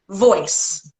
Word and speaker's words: Voyce: your voice is beautiful that's your name voice but spell it with a y not an i and I said oh